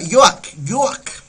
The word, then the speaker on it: yoak: Noche se escribe yoak y se pronuncia yoak.